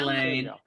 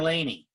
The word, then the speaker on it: Lane: Hi, Lane. Nice to meet you. Nice to meet you. Is it Lane or Laney? Lane rhymes with pain.